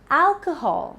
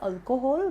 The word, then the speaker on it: alcohol: So it's none other than alcohol, not alcohol. I have heard people saying this or pronouncing this as alcohol, but it's alcohol. Alcohol. So alcohol. The stress is on al.